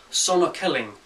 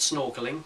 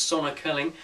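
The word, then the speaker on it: Sonokeling: is an interesting Timber it's called Sonic Kelling um not snorking which is how I first of all thought it was pronounced but it's Sonic King it looks a bit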